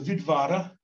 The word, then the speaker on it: Vidvara: So the Vidvara, and that's how they would have pronounced it, W would have been a V sound.